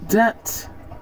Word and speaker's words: debt: right now let's see where to not pronounce the b in English that debt crime climb comb comb